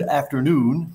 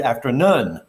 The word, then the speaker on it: afternoon: represented by o o so the two o o sounds in this phrase that you see i'm sorry over there they're not pronounced the same as this indicates it's good afternoon it's not good afternoon